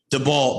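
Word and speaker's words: Daboll: However, I'm sorry, how to pronounce that? DeBall.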